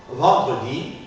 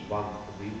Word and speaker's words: vendredi: par exemple Parlement Parlement vendredi vendredi j'articule le E de Parlement le E de vendredi justement parce que va précéder de deux consonnes ré Parlement de Pendred